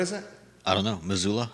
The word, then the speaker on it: Missoula: How does it spell? Missoula. Is it? It's probably Missoula. Thank you. How do you How do you spell it? I think you're right. Missoula. M I S O U L A. Missoula. We'll go Missoula. Missoula, Montana. All populations ranging from 210,000 to roughly 245,000.